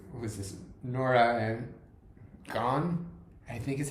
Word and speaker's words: Gaughan: was this, Norah and Gaughan, I think is how you pronounce it. I always pronounce it wrong because to me I want to say Gaughan, but that's not right.